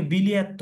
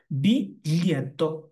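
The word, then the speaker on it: biglietto: তারপরে বিলিয়াত্ত, অনেকে বলে এটাকে বিলিয়াত্ত, বিলিয়াত্ত এটা হচ্ছে ভুল। এটা সঠিক উচ্চারণটা হবে বিলিয়াত্ত।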